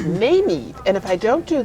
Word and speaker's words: Mameve: She is and I've mispronounced her name, it's Mameve, and if I don't do that, you audience members can come and correct me.